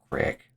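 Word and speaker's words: craic: Looked like I could Craig pronounced crack means what's going on.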